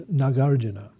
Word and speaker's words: Nagarjuna: Now the author of this text is Nagarjuna. Notice the pronunciation. The first two A's, the first two vowels are long, Nagar, and then the last two are short, Juna, Arjun, Juna, yeah.